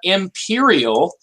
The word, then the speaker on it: Empyreal: to be talking about, Imperial. This is spelled EMPYREAL.